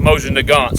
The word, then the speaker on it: Mosin Nagant: is the silver tip Mosin Nagant Mosin Nagant depends to where you're from how you pronounce it we're Hillbillies we pronounce that motion to God so I will take